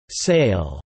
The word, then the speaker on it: SIAL: The algorithms are coded in a domain-specific language called Super Instruction Assembly Language or SIAL, pronounced SAIL, for easy communication.